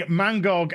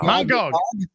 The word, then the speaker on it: Mangog: One of my favorite moments is Thor beating Mangog and Thanos. See that? Mangog. Or I probably misfucking pronounced it, Mauler. Don't worry, I'll do it for you. What is it? Man and then Gog.